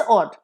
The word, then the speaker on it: odd: Next is ऑड एंड ऑड, दोनों का pronunciation same है, द स्लाइट डिफरेंस है, first AWED ऑड is like ऑड, थोड़ा सा लंबा प्रोनाउंसिएशन होगा ऑड, second is ऑड, short pronunciation.